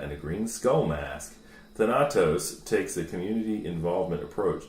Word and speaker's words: Thanatos: Thank you, Thanatos. That's Thanatos.